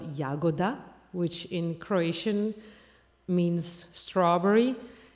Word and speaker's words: Jagoda: I was like oh the author is Flory jagoda which is spelled yagoda which in Croatian means